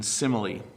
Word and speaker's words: simile: For example, why don't we pronounce the E in the word close, but we do in simile?